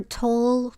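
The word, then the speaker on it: Tolle: us yeah U eer tol or tole I've heard it pronounced both ways I had a couple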